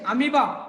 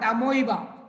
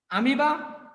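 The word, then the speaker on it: amoeba: the per sles of amiba see pronunciation amiba not amoa amiba parium and clamas spelling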